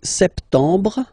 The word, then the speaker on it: sept: close to other uh languages as well so sept sept sept remember this m sep you don't insist on the final sept sept then same thing here don't insist on